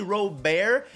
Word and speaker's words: Robert: Luis Robert, it's actually Robert. He said that in an interview, like it's R-O and then dash B-E-A-R. That's how they say it where he comes from, but he doesn't actually care if you say Robert, so I just wanted